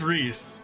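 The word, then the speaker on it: Rhys: forever no I refuse it is Reese just like how it is shine on or how it is uh uh what's his name I need to remember these names uh zyark or less not Lefty maybe that is because it's English is a busted language because we ignored the Welsh possibly possibly all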